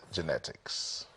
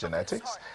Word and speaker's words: Janette Ikz: She is Terrier's Janette X, pronounced genetics. For them, Terrier's Janette X, pronounced genetics.